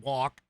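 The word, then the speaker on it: wock: it's the English word walk, it's W-O-C-K is how it's pronounced, or how it's spelled.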